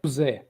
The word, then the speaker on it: José: Well, actually, if you want to really pronounce it in the Portuguese, José.